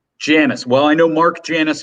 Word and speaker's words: Janus: pronounced i actually don't even know how it's pronounced janice well i know mark janus himself there we go janice thank you that's kind of where this story